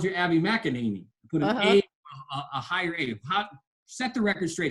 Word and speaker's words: McEnany: always called you Abby mackaninee set the record straight how do you pronounce your last name well I say Makani I really can't I